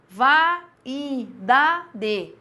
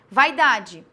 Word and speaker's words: vaidade: que eu falo falo vá e Dad se você pronunciar assim parece que você para quando você fala vaidade Então veja que o